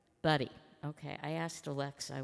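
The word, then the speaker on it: Budde: Right Reverend Marian Edgar Bud or Buddy. How do you say that? Buddy.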